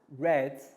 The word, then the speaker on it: read: e a d or we pronounce it like the color red so if we already